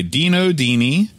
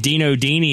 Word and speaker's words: Dino Dini: first game of the series was designed by Dino Dini honest I think that's how you pronounce it it is exactly correct they're excellent